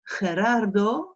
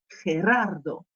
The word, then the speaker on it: Gerardo: Alors, Gerardo, celui-là, quand vous arrivez à bien le prononcer, c'est que vous maîtriserez la prononciation, puisqu'on a la jota et qu'on a deux R roulés derrière.